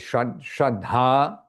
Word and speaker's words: Shraddha: So the faith is Shraddha, with a long A at the end and an H.